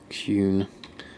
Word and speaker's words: Kuhn: Kuhn. He says it's pronounced like moon.